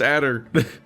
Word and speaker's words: Ader: It doesn't look like it'd be pronounced Ader. And so I keep thinking I'm wrong for a second, even though I know I'm right when I say it.